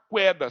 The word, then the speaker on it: queda: não a queda d'água Então quando você fala queda presta atenção você não pronuncia o u Então você escreveu as